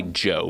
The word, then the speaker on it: DJO: I like to say Joe because it's actually Joe Keery from Stranger Things, and no one knows how to say it.